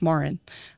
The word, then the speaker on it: Maren: But really stopping and saying, hey, by the way, it's pronounced Maren.